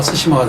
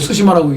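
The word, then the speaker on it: 対馬: 이 대마를 일본어로는요 스시마라고 읽을 근거가 없어요. 일본어로는 이 대자가 일본어는 다이거든요. 다이. 그러면 마는 무마 맞아요. 그러면 다이마 이렇게 읽어야 되는데 대마 도까지 하면 섬도자는 심하니까 다이마 시마가 돼야 돼요. 근데 일본은 다이마 시마 이래야 되니까 섬도자는 빼버리고 대마만 써놓고 스시마라고 읽어요.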